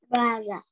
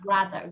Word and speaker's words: brother: Lưỡi của các con sẽ đặt ở giữa hai cái răng ấy.